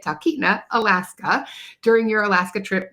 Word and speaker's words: Talkeetna: are looking for information about visiting Titna, that's how you say it, Titna, Alaska during your Alaska trip maybe in 2026 or 2027.